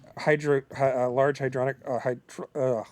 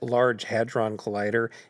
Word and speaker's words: Large Hadron Collider: large hydronic yeah, I don't know how to pronounce it. I know what you're saying. A thing that spins really fast to crush atoms. Yes. LHC, a collider. Yes. It's pronounced Large Hadron Collider, and I did a